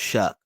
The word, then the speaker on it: Shough: But he spell his name Shough, but it's pronounced Shuck.